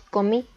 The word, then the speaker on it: comí: Después tenemos comí, es un verbo en pasado, por lo que la sílaba tónica recae en la última y como es vocal, también se acentúa.